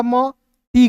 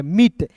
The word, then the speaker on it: meat: फिर देखिए दोस्तों यहाँ पे एम का म, टी का ट, EA है तो इसका उच्चारण ई के रूप में करेंगे मीट, MEAT को पढ़ेंगे दोस्तों मीट।